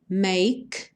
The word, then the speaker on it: make: aparece what can make make sem pronunciar o e me Feel This Way